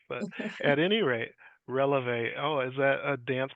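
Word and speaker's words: Relevé: for me sure yep we are rev counseling so it speaks a little bit to my dance background all right because I've been pronouncing it relieve counseling but that's my American bias I'm sure you hear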